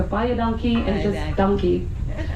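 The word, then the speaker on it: dankie: we say buy a donkey, which is spelled D A N K I E, but it sounds like purchase an ass.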